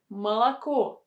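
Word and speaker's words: молоко: or are not stressed next is the word malaco malaco malacco we have a stress on the last syllable that is why the first two syllables with the letter o should be pronounced with a sound ah and the last one is not in this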